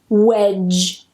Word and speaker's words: wedge: The D is completely silent. we go straight to that J sound. Wedge.